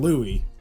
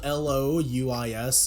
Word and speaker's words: Louis: Well, no, it's spelled Louis, but the S is silent.